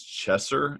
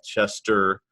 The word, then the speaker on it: Chesser: My last name is Chesser, so it's pretty easy. But you will never believe, how many people mispronounce it. They'll call it Chester, Cheeser.